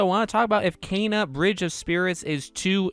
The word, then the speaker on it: Kena: It is Kana. It's not Kina. It's not Kenna. It's Kana.